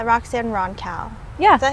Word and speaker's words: Roncal: Roxanne Roncal. Yeah. Is that how you said it? Yeah, that's how I said it. White people say it like Roncal.